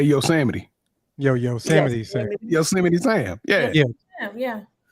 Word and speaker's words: Yosemite: Funny, but it's pronounced Yosemite.